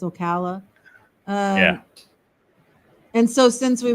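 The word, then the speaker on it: Ocala: Wildwood and in Florida they call it Okala because it's the it's a hard SE I only know because I was corrected so yeah I said a hard C but the a different Okala but it's Okala yeah and so since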